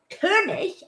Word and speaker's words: Koenig: performance for you by katie koenig kurnish as you pronounce it in german which means king so katie the king cooney